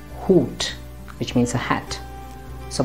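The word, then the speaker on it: Hut: at a few examples this word in english would be pronounced as hat but in german it will be hoot which means a hat so once again hoot or this word in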